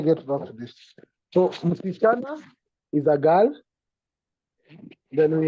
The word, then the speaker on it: msichana: the first one is msichana. Msichana. Let me bring my screen here to help write. The first one is msichana. Msichana. The pronunciation is not M, C, cha, and na. Msichana. Msichana. Msichana.